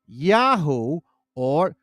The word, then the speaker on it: Yahu: the element yah or yaho or Yama the Babylonian version of yahu meant linked to them to link them with their deity in this case Yahweh but in proper pronunciation Yahoo you see what I